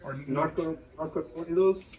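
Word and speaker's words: narcocorridos: The Nocoritos. Is that how you pronounce it? Yeah, Narco Corridos.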